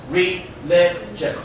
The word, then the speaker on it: religion: So here number 10, this word read the stress. Religion. The stress on the second syllable.